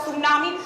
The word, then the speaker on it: tsunami: Cause anybody who know how to spell tsunami know that the T is silent.